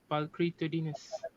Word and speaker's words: pulchritudinous: Pulchritudinous Okay. All right. or pulchritudinous. There are two Okay.